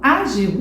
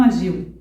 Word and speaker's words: ágil: a gente entona mais então eu falo agiu e não agiu difícil e não difícil útil e não útil Deu para entender então